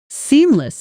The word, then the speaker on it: seamless: Seamless is stressed on the first syllable. Seamless. And native speakers often say it quickly, almost swallowing the second syllable slightly. Try it slowly for seam less then naturally seamless letting that second syllable soften.